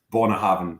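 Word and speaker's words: Bunnahabhain: see button or bone but on an Ayla accent is born a heaven so I always say Bona having because you know like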